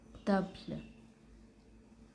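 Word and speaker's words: table: भी टेबल होते हैं, लेकिन इसकी प्रोनाउंसिएशन डिफरेंट होती है। प्रोनाउंसिएशन इसकी होती है तबल, तबल, ठीक है। तो इसके एंड पे जो है वो ई आया है, तो ई जो है वो साइलेंट रहेगा, ठीक है।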